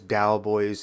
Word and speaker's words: Daoboys: Like, there's no D-O-W, like Cowboys, Daoboys. It's... Callous isn't like C-A-L-L-A-S, like Dallas would be. It's not the same spelling, but it's the same pronunciation.